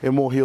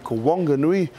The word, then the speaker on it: Whanganui: Whanganui is known as 'Wonger-nui' and Pito-one known as Petone.